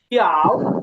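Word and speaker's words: tiao: হ্যাঁ, তবে এই যে এইটা দ্বিতীয় লাইনটা, এটা হবে টির উচ্চারণটা হবে থ। হ্যাঁ, প ত না না, থ টিয়াও থ থ বাংলার থ। টিয়াও। হ্যাঁ, বাংলার ব্যঞ্জন বর্ণে থ আছে না, সেই থ হবে টি।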